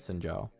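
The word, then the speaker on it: Xin Zhao: I feel like could be quite strong is Sinjao. I like that you actually pronounced it correctly.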